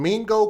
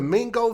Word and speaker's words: Mingo: now working to recover 2 missing toddlers in Mingo Creek, which is spelled M-I-N-G-O, Mingo Creek.